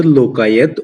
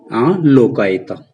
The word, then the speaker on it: Lokayata: That is also called Lokayat, or we can pronunciate it Lokayata.